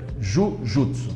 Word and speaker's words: Jujutsu: No japonês correto é Jujutsu, né? E o japonês fala Jiu-Jitsu, né? No pronúncia japonesa.